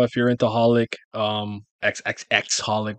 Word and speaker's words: xxxHolic: you're into holic um xxxholic well I don't think you pronounce the X's which is the other